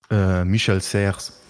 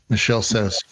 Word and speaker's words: Michel Serres: And can you say his name one more time so I never mispronounce it again? Michel Serres. Michel Serres.